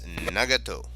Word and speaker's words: Nagato: you know I went to how do you pronounce uh this word and it's nagato so the nagato I did extremely extremely poorly